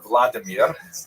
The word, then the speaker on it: Vladimir: What's especially important in its history is the conversion of one of its leaders, Volodymyr, pronounced in Russian Vladimir, shown here in a statue overlooking the Dnipro River that runs through the middle of Kiev.